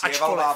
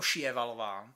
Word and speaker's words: Sjöwall: kde se představuje a budeme to vyslovovat ma siala eper Valo protože eh takhle svalová Valo Ok dobře tak Ačkoliv se to tak vyslat nemá mm Hm a ona to vyslovuje jako šalov ale ve chvíli kdy